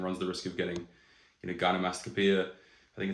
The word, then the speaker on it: gynecomastia: the risk of getting, gynecomastia. I think it's how you say it. Gynecomastia is actually how you say it, which is basically man boobs, and there's no shame in that at all.